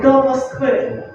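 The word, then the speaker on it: до Москви: So you get the, m, o, s, h, v, and let's say do Moskvy.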